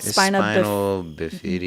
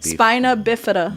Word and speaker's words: spina bifida: spina bifida or bifida or it's called spinal bifida. No, spina bifida.